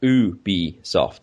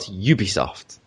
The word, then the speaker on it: Ubisoft: too late number four it's pronounced ooh b soft in french not ubisoft but i'm not french so i pronounce things englishly you also got onto